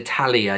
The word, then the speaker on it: Talia: And I think I pronounced it right, because you've said here it's pronounced yeah, so Talia, yeah, I got it right.